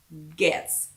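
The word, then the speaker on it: Goetze: g-o so this is gets g-o-e g-o-e-t-z-e gets candy so it's spelled like goets whatever but it's pronounced guess g-o-e-t-z-e candy yeah super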